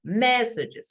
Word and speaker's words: messages: Okay, how many syllables does he have in singular? Message, 2 syllables. So in plural, one additional syllable. Messages.